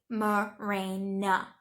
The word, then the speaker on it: Mirena: my own body then at least pronounce it correctly Mirena okay that's the first